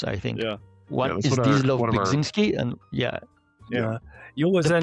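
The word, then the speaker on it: Zdzisław Beksiński: Zdzisław Bekzinski. Yeah, you can spell it that way too. It has two pronunciations, I think. Yeah. One is Zdzisław Bekzinski, and Yeah.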